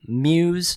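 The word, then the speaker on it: Mews: a really cool name muse small i think that's how you pronounce it m-e-w-s it just reminds me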